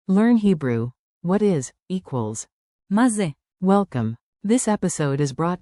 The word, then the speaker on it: מה זה: Tip one, open ma like ma in mama. Ma. Tip two, ze sounds like ze, quick and light.